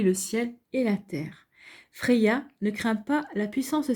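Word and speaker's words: Freyja: ce flirt pourquoi pas à propos de frais gyan prononcé freya effectivement ds terrestre ou nordique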